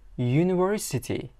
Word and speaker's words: university: Talaffuz qilinadi mana bu y bilan. Bu unli harf bilan boshlagan bo'lsa ham, undosh harf bilan talaffuz qilinadi, ya'ni university ya bilan.